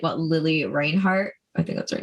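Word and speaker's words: Lili Reinhart: know if you're keeping up with like what Lily Reinhart, I think that's her name. That's how you pronounce it.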